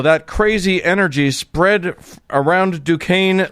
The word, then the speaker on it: Duquesne: In 1967, a small group of apparently disgruntled Catholics met at the Catholic Duquesne. I have to remind myself how to pronounce that because it's spelled Duquesne. Duquesne University.